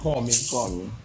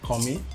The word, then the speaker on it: Kanmi: kami sci-fi you know before now i pronounced the name as call me but i had to call somebody and they said it coming yeah like what yeah it's amazing to be